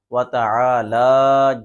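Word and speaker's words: وتعالى: جو غلطی کرتے ہیں وَتَعَالَى جَدُّكَ، وَتَعَالَى، عین کی بجائے وہ حمزہ پڑھتے ہیں، اور لام کے اوپر جو کھڑی زبر ہے اس کو بھی لمبا کو نہیں کرتے ہیں۔ اس کا درست تلفظ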